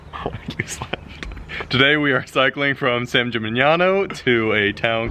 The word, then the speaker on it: San Gimignano: Hey, so today we're taking a day off in San Gimignano. I think that's the right pronunciation. Matt, try it. San Gimignano.